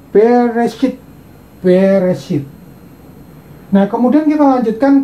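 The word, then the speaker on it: בְּרֵאשִׁית: Nah, ini saja bacanya bereshit.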